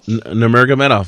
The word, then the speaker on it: Nurmagomedov: with the chain wrestling monster that is Khabib Nurmagomedov. Did I pronounce that right? Yeah, Nurmagomedov.